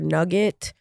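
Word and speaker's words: Knugget: on Instagram at nugget the Nugget has a silent k um you can also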